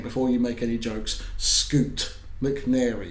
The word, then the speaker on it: Scoot: you make any jokes scoot McNary it's not Scott it's scoot um he's been cast